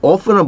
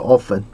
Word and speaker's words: often: is often the case often은 보실게요. Often often 아니고 often 이렇게 발음하시는 분도 있고 often 이렇게 발음하시는 분도 있는데 뭐 취향대로 하세요.